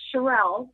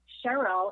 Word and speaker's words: Cherelle: my name it's it's shirelle's but cheryl is kind of like the french version of it so awesome okay so